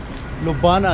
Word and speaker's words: Ljubljana: Slovenia का जो capital है उसका नाम है लुबाना, इस तरह कुछ नाम है, आपको स्क्रीन पे नज़र आ रहा होगा। ये जो जे है ना, ये इसके अंदर साइलेंट है।